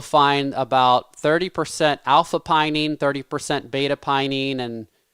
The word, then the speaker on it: pinene: is the same as the the it's called pinene right did i say it right and that's also in rosemary it is pinene they're they're it depends on what type of